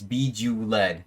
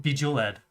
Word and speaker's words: Bejeweled: It's Bejeweled. Bejeweled.